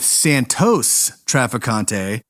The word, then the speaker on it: Santos Trafficante: First of all, this guy's first name is pronounced with or without the s at the end all over the place.